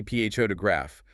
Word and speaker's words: photograph: We say PHO to graph, but photographer and photographic.